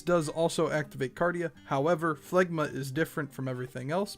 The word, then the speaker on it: Phlegma: cooldown sage does have another unique move called phlegma yes that is how it is pronounced this move is on a 45 second